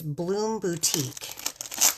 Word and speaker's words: Bloom Boutique: This is called, now I've been pronouncing this wrong. It's Bloom Boutique.